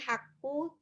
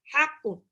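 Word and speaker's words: حق: Itu qafnya, ingat itu qaf bukan kaf, jadi bukan haqqu. Dan hanya harus masukin ke tenggorokan tengah. Ha, ha. Ha, hi, hubah. Bukan haqqu, tapi ha, ha. Haqqu.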